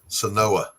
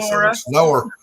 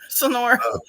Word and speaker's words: Sonora: Sonoa. Whatever. Sonoa. I know how it's spelled, but Sonoa. Yeah, you gotta put an R in it if you're really Sonora. Sonora.